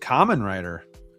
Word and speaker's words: Kamen Rider: Oh, Valkyrie says pronounced Kamen Rider.